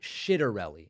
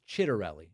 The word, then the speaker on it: Ciattarelli: It's not Ciattarelli. It's Ciattarelli.